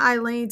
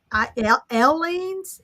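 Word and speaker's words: Aleene's: It's not Eileen's. It's Aileen's.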